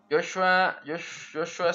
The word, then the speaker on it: Joshua: Joshua se pronuncia como está escrito la H, pero es muda.